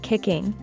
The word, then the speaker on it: kicking: second syllable alive while forth kicking we'd stress on the first syllable kicking kicking Alive and Kicking Alive